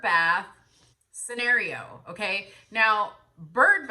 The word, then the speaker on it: Byrd: regards to this whole bird bath scenario, okay? Now, bird bath in the terms that she is speaking about is spelled B-Y-R-D, not B-I-R-D like a bird.